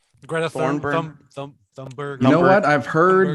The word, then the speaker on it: Thunberg: Thornburn. Greta Thornburn. Thunberg.